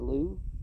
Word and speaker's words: Louvre: few others in the Louvre. I think that's how you. I think you just don't pronounce the VRE at the end.